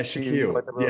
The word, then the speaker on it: Shaquille: Shaquille. Is that how you pronounce it? S-H-A-Q-U-I-L-L? Yeah, Shaquille.